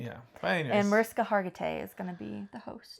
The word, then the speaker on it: Hargitay: But anyways, And Mariska Hargitay is gonna be the host.